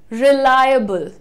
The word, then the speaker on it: reliable: Match कर रहा है, रिलायबल, रिलायबल, रिलायबल नहीं, रिलायबल नहीं होता है, रिलायबल कैसे बोलना है, रिलाय, लाई, रिलायबल, रिलायबल। सो यहां पर लाई के बाद हल्का सा अ का साउंड है और फिर बल है।